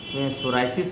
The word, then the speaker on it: psoriasis: इसका सोराइसिस में इस्तेमाल किया जाता है, PSORIASIS, इसको हम सोराइसिस पढ़ते हैं, पी इसमें साइलेंट है।